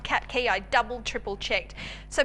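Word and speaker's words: Qatqi: around the world at the moment it's called cat key it's spelt q a t q i it is an unusual one but it's pronounced cat key i double triple checked so basically it's like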